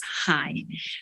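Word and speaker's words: 鞋: during Chinese New Year because shoes in Chinese we pronounce as high high means like sighing so if you buy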